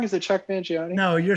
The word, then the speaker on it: Chuck Mangione: just like Chuck Mangione am I saying it wrong is it Chuck Mangione no you're saying it